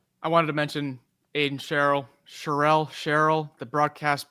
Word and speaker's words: Sherrill: Just say it like it sounds like you're just, your mouth is like eating peanut butter. And that way you get it right no matter what.